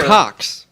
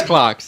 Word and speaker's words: Clocks: No, Cox. Cox. Yes. Different band. Pornhub. No, it is Clocks. It's Clocks.